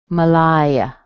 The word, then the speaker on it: Malaya: Anita, Melissa, Malaya. Schwa in the beginning, strong in the middle, Malaya, Malaya.